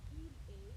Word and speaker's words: il est: Il est, elle est, your S and your T are silent.